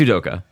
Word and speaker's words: Udoka: It's Udoka. He's not Goku.